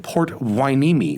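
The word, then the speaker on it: Port Hueneme: official retail locations like their new one in port wineme which i am told is the correct pronunciation if you're not in california or even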